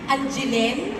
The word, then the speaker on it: Angeline: Ang bigkas ko sa Angeline Angelen.